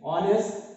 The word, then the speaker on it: honest: Okay, our next question, honest man. Here also H is silent.